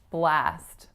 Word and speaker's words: blast: really fun time so the most important part in blast is that you really make your app avowal tense enough so it's not a clean pure vowel I wouldn't say I had a blast yesterday I had a blast so I'm really tensing that ass for it to get that really specific North American English quality our next word is